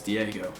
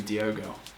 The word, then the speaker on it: Diogo: pronounce his first name he has an o in it instead of an e so i don't think it's diego it must be diogo anyway what a start